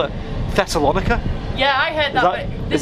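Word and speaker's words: Thessaloniki: the end there's a thessalonica or thessalonica if you actually look at the spelling of it no i don't give you i i'm not i don't speak greek yeah i don't um but it's it's spelled t h e s s a l o n i k i because i heard that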